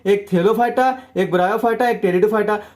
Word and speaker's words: टेरिडोफाइटा: एक हमारा होता है थेलोफाइटा, एक ब्रायोफाइटा, एक टेरिडोफाइटा, जिसे आपको अच्छे से समझ के रखने का है। क्लियर। जो हमारा क्रिप्टोगेम है इसके 3 डिवीजन है। एक हमारा थेलोफाइटा, ब्रायोफाइटा एंड टेरिडोफाइटा। पे साइलेंट होता है।